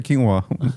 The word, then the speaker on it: quinoa: until somebody's like uh it's actually quinoa like dude how come nobody's ever told youo let me get a Canoa salad or is